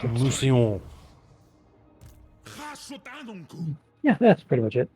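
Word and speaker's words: Mousillon: Just Muslon, but with French accent. Musillon.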